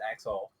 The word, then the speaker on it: Axel: His name is Axel. It is pronounced Axel. Axel.